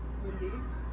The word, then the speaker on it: Wendy: It's not W-I. I don't try and say it like that. Well, you do. Just how you say pillow. You Wendy. use the E for pillow, but not for Wendy.